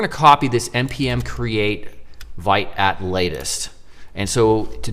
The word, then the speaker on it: Vite: I believe that's the pronunciation. I want to call it Vite, but I think it's Vite. And basically it's a modern bundler, essentially.